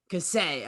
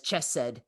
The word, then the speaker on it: Kasei: His name is Kasei. Kasei, okay. Because I wanted to read it as Chesed, and that is not how you say it.